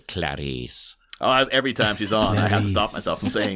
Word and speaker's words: Clarice: parents named her because her name's not spelled like Clarisse it's not like it's hilarious like this way but you still have to say Clarice oh every time she's